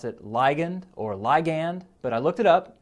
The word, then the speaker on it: ligand: that word ligand a lot sometimes people will pronounce it ligand or ligand but i looked it up and ligand is